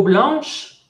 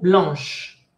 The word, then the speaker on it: blanche: Et la peau blanche, bah c'est Frédéric et Isabelle. Frédéric et Isabelle ont la peau blanche. Attention, blanche. Le E ne se prononce pas. Blanche. Noir.